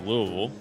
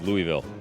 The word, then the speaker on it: Louisville: bringing you this week all the way from Louisville Kentucky or is it Louisville let's check in